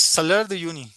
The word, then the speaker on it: Salar de Uyuni: So how do how do you pronounce it? Salar de Uyuni? Uh yes, Salar de Uyuni.